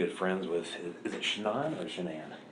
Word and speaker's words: Shanann: All right, so I understand that you are pretty good friends with, is it Shannon or Shanann? It's Shanann. You pronounce it like shenanigans.